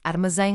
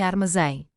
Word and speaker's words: armazém: Dependendo dessa posição, as palavras classificam-se em agudas acentuadas na última sílaba, ex, armazém, armazém.